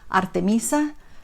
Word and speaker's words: Artemisa: So she's called Artemisa, and in Spanish it's I think pronounced Artemisa, and she is a Greek goddess.